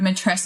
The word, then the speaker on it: matrescence: think about the word mates and maybe this will help people people with remembering how to say it it sounds a little bit like adolescence and that's purposeful because if